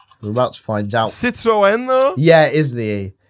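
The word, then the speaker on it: Citroën: they don't say it like Citron they say Citroen they don't call it Citron it's got an e in it Citron and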